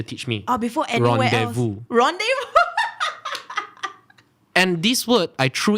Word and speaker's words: rendezvous: before the teacher teach me oh before everyone rendezvous and this word i threw it to an english teacher she pronounced it renders verse you can imagine the difference that of exposure